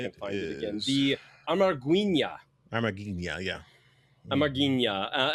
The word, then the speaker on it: Amarguinhas: The Amarguinhas. Amarguinhas, yeah. Amarguinhas. And that is, by the way, the ya in Portuguese, guys. It's always an H, so it's spelled Amarguinha, Am-are-gween-yas, or ha.